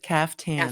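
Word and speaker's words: caftan: And that's how you pronounce it? CF tan. CF tan. Yeah. sometimes spelled with a K, sometimes spelled with a C, but it's the same thing.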